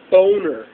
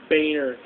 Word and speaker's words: Boehner: His name is John Boner. Actually, it's pronounced Boehner, but if you were to type it into